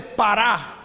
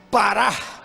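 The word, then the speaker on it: parah: Esta raíz, la raíz primaria de la palabra fecundo, es una palabra que se dice pará, con acento en la A, pará.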